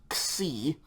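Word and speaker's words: ξι: like an english letter this sounds like the english letter x okay as in the x in taxi or x-ray the letter's name is c x i c and so yeah you're going to pretty much get like a k n s sound together okay c like an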